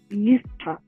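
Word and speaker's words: יפתח: Jephthah in Hebrew is pronounced as Yiftach and means he opens.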